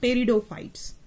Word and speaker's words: pteridophytes: The P is silent while pronunciation. See, you have to pronunciate it like pteridophytes.